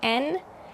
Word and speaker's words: yen: The Japanese currency is called yen, or pronounced more like en, and it is at a historic low compared to the US dollar.